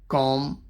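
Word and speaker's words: comb: जब एम के बाद और टी से पहले बी आता है तो वो अक्सर साइलेंट होता है। एग्जाम्पल दिए हैं, कॉम मतलब होता है कंघी, चूम बी साइलेंट रहेगा,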